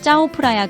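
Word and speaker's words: เจ้าพระยา: 이곳에서 우리는 장엄한 짜오프라야 강, 흔히 왕들의 강이라고 불리는 곳을 따라 여정을 시작합니다. 짜오프라야라고 발음하는 이 강은 방콕의 젖줄과 같으며 도시를 구불구불 흐르면서 문화유산과 현대적인 경이로움이 어우러진 매혹적인 풍경을 선사합니다.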